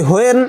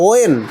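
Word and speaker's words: when: আমরা বলি হোয়েন, ইংরেজরা বলে ওয়েন।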